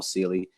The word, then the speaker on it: Celey: under my name silly it's the only j a m o u l on linkedin um and silly is spelled like celery without the r uh so i'm right